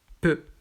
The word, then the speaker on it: peu: Donc EU, c'est fermé. Donc ici, c'est fermé et ça se prononce peu.